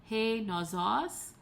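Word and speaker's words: νόσος: Okay, and then we see that the accent is on the penult, so it maintains itself on the penult all the way down the declension.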